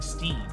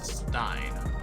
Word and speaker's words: Stein: I know it's Stein. Why am I saying Steam? Is it because I want it to rhyme with neon? Steam. No, it's Stein.